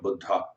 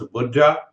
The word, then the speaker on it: Buddha: He was contemporary of Buddha. In America, we say Buddha. So when you pronounce Buddha in Hindi, it means very old. And the real pronunciation is Buddha, coming from Bodh.